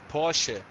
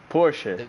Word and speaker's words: Porsche: I asked you before but I forgot it's Porsche Porsche there it is there I know that the